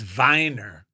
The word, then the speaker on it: Weiner: or not do it that's Lawrence Weiner or Wier he's an artist allowed to say wiener on this podcast when it's a last name yes and and the last one I believe in German it's Viner so uh the last